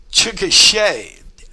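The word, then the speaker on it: Chickasha: That t-shirt right back there will be up in uh Chukasha or No, it it's spelled Chugasha, but it's uh pronounced Chicochet. Touche. Yes. So, Chicochet uh will be up there at Twister Fest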